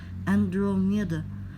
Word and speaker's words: Andromeda: Andromeda pronunciation is Andromeda.